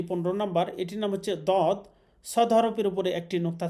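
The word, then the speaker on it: ض: দদ হরফের মাখরাজ হচ্ছে দদ মারির দাঁতের গোড়া থেকে মোটা করে পড়তে হয়, অর্থাৎ জিহ্বার যে কোনো একটা সাইড অথবা দুই সাইড মারির দাঁতের গোড়ার সাথে লাগিয়ে উচ্চারণ করতে হবে।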